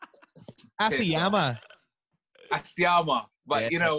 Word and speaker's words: Asiamah: Asiamah, Asiamah, Asian man, piss off. Asiamah.